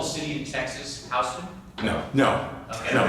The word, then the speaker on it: Houston: How do you pronounce that? Wrong. House. It's Houston Street. That's a New Yorker. It's Houston Street. The tourist said to me, "No, it's Houston."